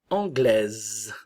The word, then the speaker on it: anglaise: et anglais anglais féminin anglaise le E se prononce pas s anglaise anglais anglaise